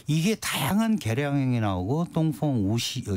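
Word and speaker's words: 东风: 그 그게 이제 중국어로 똥퐁이라고 읽는 건데 이게 다양한 계량형이 나오고 똥퐁 우시 다 같은 경우는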